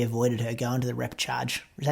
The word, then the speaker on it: repechage: could have maybe avoided her going to the repechage. Is that how you say it? Yeah, repechage, yeah.